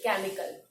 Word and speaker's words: chemical: But this word starts from CH but produce the sound of K, that is chemical.